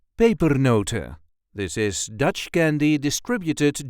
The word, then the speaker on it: pepernoten: And as usual we normally do not pronounce the N at the end. So, paper noter paper noter.